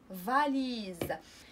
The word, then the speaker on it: valise: S إنما Z أون فاليز أون فاليز فهنا اس نطقناها فحال لا لتر زد في اللغه الفرنسيه حيت جات بين جوج